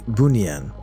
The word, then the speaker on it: Bunian: In Malaysia, we have this mythical species pronounced the Bunian, sort of pronounced like Bunian.